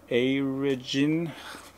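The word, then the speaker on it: Airegin: And I think they start with Aragin. Yep, that's how you pronounce it.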